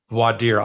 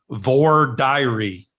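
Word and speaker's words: voir dire: a funny little aside how lawyers in different regions pronounce voidir i pronounce it the way you do in north carolina they and in the south they pronounce it vor diary yeah well it actually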